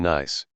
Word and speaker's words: gneiss: Basalt and gneiss. This G is silent as in gnat.